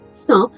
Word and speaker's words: cent: pronunciação, estou lembrando que o número 100, você não pronuncia a letra T, né? 100.